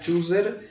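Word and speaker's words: chose: আর হচ্ছে সাথী ম্যামের একটা প্রনাউন্সিয়েশন ভুল ছিল, সেটা হচ্ছে চুজের পাস্ট ফর্ম হচ্ছে চোজ, পাস্ট পার্টিসিপল ফর্ম হচ্ছে চোজেন। চুজ, চোজ, চোজেন, চুজড একটা শব্দ, এটা অনেকে ভুল ভাবে।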